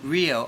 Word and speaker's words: Rio: Would you spell it? Yeah. And what's your last name? Rio, Rio.